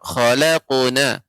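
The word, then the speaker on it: خلقنا: Ya, Nenek, untuk qalqalah ya, qalqalah pada huruf qaf ya, tidak khalaq ya, akan tapi khalaqu ya, tebal ya, isti'la, naiknya suara ke langit-langit dibaca, akan tapi tidak ada hamzahnya. Laqad khalaqnal tidak laqad khalaqna. Ya, tadi saya mendengarkan khalaqna. Yang benar khalaquna.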